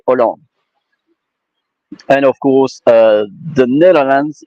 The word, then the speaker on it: Hollande: And so the H is not pronouncing, by the way. You say Holland, but in French you say Hollande.